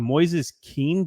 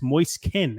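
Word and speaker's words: Moise Kean: one finishes fan Tina three helis Verona one Moy kin or I used to call him Moes King but it's Moy Ken actually weird moist kin as it's pronounced is on fire right now as he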